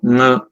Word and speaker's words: ङ: लोग अणा इनी अया पता नहीं और भी कई प्रकार के उच्चारण करते हैं जो सब गलत है। जानिए कि जो तृतीय अक्षर है क ख ग, तृतीय वर्ण व्यंजन वर्ण का नासिक के उच्चारण जो होता है वो अंतिम पंचमाक्षर का होता है। मतलब ग को यदि आप नाक से कह दें तो ङ सही है।